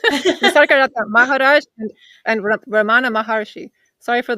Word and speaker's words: Nisargadatta Maharaj: Sorry, Nisargadatta Maharshi. No, I'm saying it wrong. Nisargadatta Maharaj and Ramana Maharshi.